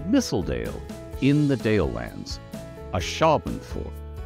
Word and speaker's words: Ashabenford: This is the capital of Mistledale in the Dale Lands, a Shaban fort. So four syllables, emphasis on the second, there's a pattern here.